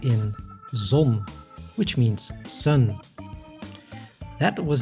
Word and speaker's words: zon: Ron zet the letter zet Z like in zon which means Sun that was the alphabet but in terms of pronunciation the real difficult stuff starts only now